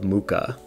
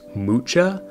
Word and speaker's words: Mucha: favorite artist and this is the world of mooka so side note I just found out that his last name is actually pronounced mucha but because of force of habit I'm just